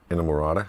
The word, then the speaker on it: Inamorata: There's can someone please pronounce the last song on the record, please? Inamorata.